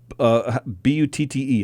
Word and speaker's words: Butte: Negro League player with the B-U-T-T-E. How do you say it? Buddy? Butte.